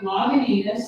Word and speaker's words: Lagunitas: All right, there's plenty of Lagunitas. Did I pronounce that properly? No. Did I butcher it? No, Lagunitas.